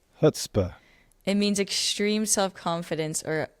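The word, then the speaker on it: chutzpah: is h u tzp Google says to Google says HS hutzpah hutzpah it means extreme self-confidence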